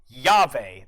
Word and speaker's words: llave: And here's the other one you got to remember, llave. That double L gets pronounced like a Y.